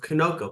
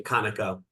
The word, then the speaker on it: Conoco: Jefferson commenting on his Corporation take over of Koko back in excuse me kanako I keep mispronouncing that Kano back in 1981 well you